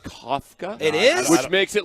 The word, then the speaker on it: Kafka: and Kafka Mike Kafka apparently his name is pronounced Kafka it is which makes